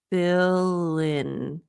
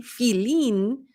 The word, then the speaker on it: fill in: So if you're pronouncing your I's like E, filin, it's going to sound not only either incorrect or highly accented, but feel is a different word than fill.